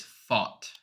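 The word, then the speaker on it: Pfaadt: Yeah, so it's so the pronunciation is Fought.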